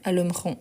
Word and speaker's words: allumerons: ici c'est très proche la prononciation c'est la même alumron alumron sauf qu'ici c'est avec S ici c'est avec T ok par rapport à la